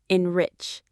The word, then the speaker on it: enrich: Let's pause on that beautiful word enrich. Say it with me. Enrich. Enrich. The stress is on that second part. Rich.